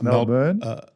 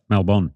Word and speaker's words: Melbourne: How do you say that? It's not Melbourne. It's Melbourne. Melbourne.